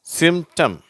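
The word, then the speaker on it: symptom: அந்த பீன்ற உச்சரிப்பு வரதில்லை. Attempt, சிம்டம்.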